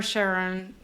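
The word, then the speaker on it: Charon: I'm not So, it can be pronounced Karen or Cheron. Cheron. Cheron. Um, but it's more common to know Karen and that's how they pronounce it in this show.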